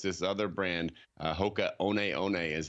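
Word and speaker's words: Hoka One One: all uggs and now it's this other brand hoka oneeone is how you pronounce it it's wild name but people love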